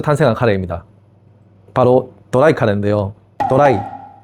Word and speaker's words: ドライ: 도라이. 일본어로 도라이. 도라이. 일본 발음이긴 한데 영어로 드라이 뽕능 카레를 말하는 겁니다.이 드라이 카레가 탄생하게 된 건요.